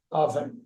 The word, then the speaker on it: often: பேசிக்கா most of the people அங்க சொல்றது டி சைலண்ட், ஆஃபன்.